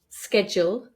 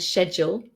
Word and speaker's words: schedule: We have some other words, for example, schedule and schedule, where the pronunciation schedule has come from American English, but now both are totally acceptable.